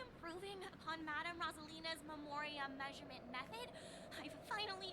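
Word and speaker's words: Rosalyne: it looks like it's spelled ralina but it's pronounced Rosalina interesting oh do you know her too or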